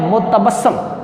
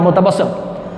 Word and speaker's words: متبسم: لفظ ہے متبسم۔ متبسم، میم کے اوپر پیش، تے کے اوپر زبر، بے پر بھی زبر، اور سین کے اوپر شد کے اوپر آئے گی زبر، اور میم پر لگے گی جزم، متبسم۔ لفظ ہے قدری۔ کاف